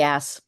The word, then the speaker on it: Ash: Because the H is silent in French. Oh, Ash. and it would be ass.